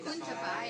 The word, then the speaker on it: Cuntapay: Kuntapay pala. Kuntapay. Kuntapay is how you say it.